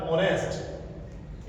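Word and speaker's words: honest: में आ रहा है लेकिन इसका प्रोनंसिएशन नहीं होगा इसको बोला नहीं जाएगा इसका उच्चारण नहीं होगा इसकी ध्वनि ओ से ही शुरू होगी तो ये बना जाएगा ऑनेस्ट इस तरह से ओनर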